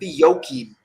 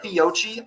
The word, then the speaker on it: Fiocchi: So today, I was at the Fiocchi table. That's actually how it's pronounced. I have said Fiocchi all my fucking life until today.